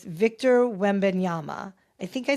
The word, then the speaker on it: Wembanyama: aka the alien, and I am going to pronounce his last name. So it's Victor Wembanyama. I think I say that, Wembanyama.